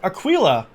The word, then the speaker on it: Aquila: Alright, we have Aquila, I think is how you say it, with Jewel and Scry.